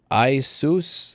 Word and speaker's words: Asus: that garbage this week do you know asus is pronounced like i seus i don't give a if they wanted it if they wanted me to pronounce it properly they would have named it better oh sweet and mercy